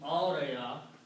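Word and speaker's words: أورى: Aura, ya, if I just af'ala, then it will become auraya, and this is pronounced as alif, so aura.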